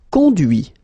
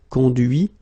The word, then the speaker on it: conduit: Okay, so you can notice that even if I put this final T, so as usual, I don't pronounce it. Okay, conduit, construit, cuit, détruit, instruit.